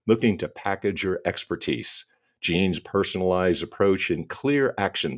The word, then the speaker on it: Jeanne: I'm doing great except my name is pronounced Jean and I didn't tell